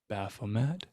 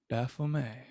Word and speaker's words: Baphomet: ] i don't know i try to pronounce all the words in all their variations because there's people who have read them but never heard them allowed and they have connection phonetically when they hear it pronounced differently baphomet bafflemay have your way he was uh